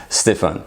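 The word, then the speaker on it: Stéphane: sounds a bit like Stephanie but it's actually pronounce Stefan so of course yes I'm French I'm born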